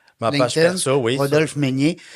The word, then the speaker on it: Meynier: Rodolphe Meunier. À savoir que Meunier s'écrit M-E-Y.